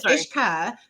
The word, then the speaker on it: Ishka: So, it's Ishka. There's no U in my name. So, it sounds like a K instead of a Q.